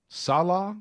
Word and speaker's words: Salah: like to get him oh yeah but uh Salah is how you say his last Salah Salah